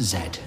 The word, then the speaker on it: Z: cats wxy and Z though of course in this country that should be pronounced Zed thank you for listening